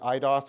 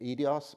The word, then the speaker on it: eidos: So I was taught to pronounce it eidos because I guess it's like idea, but is it eidos? What's the Greek word for like the form? Eidos? Okay, close, sort of, eidos.